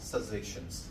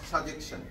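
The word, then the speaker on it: suggestion: আচ্ছা here R some সাজেশনস, কিছু সাজেশন। উচ্চারণ কি? সাজেশন, নট সাজেকশন।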